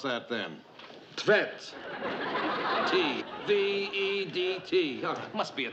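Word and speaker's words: Tvedt: How would you pronounce that then? Tvet.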